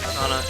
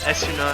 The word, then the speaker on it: Esuna: Or I always pronounce it Asana. Esuna, however you want to pronounce it.